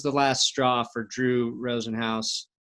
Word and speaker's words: Rosenhaus: threw through bag of gummy dicks and that was the last straw for Drew Rosenhaus was it Hoss our house house house yeah should be spelled like house from house it's got a big